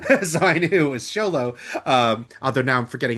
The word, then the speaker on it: Xolo: Cobra Kai panels so I knew it was Xolo.